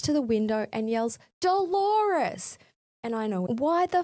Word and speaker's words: Dolores: Moments later, after she leaves, he realizes it's Dolores, rhyming with the common pronunciation of clitoris. He runs to the window and yells, Dolores!